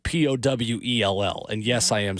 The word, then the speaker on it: Powell: PALS for those of you spelling at home, not like Powell High School, which is spelled Powell.